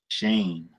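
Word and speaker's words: שן: be sure moosh eh what's the Hebrew word for tooth Shane the closest I can get for y'all phonetically to get it Shane off chain bow it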